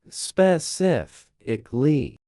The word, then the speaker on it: specifically: Many people say specifically or specifically with the stress in the wrong place. The correct way, specifically. The stress lands on the second syllable sif.